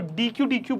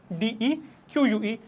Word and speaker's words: deque: तो DEQUE, तो DEQUE pronounced as DEQUE, बहुत इंपॉर्टेंट है इसका प्रोनाउंसिएशन। इसको DQ बोलते हैं लोग, और इसको उस DQ से कंफ्यूज कर जाते हैं जो हमने पढ़ रखा है, विच इज DEQUE।